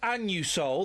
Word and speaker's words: Anusol: Listen, when I go in and buy my Anusol, that's how it's pronounced, I say it loud and proud.